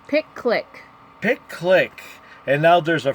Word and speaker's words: PicClick: Yeah, and it's spelled. How is it spelled? PICCLICK. Yeah, pick click.